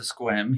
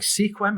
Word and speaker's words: Sequim: go to America end up um moving to squim he showed me squim on the map I'm like Sequim is that how you how how you that's